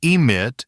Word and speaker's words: emit: In emit, the E matters. In event, the E is still there. Same with effect. Even though the first syllable is weak, flattening everything into event or effect works against you.